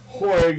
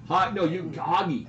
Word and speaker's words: Hoig: connection between Kalen and Hoig 8181. Now that everybody, hey, by the way, he pronounces it Hoig. No, I don't. Oh. Hoggy. Yeah, I pronounce it Hoggy.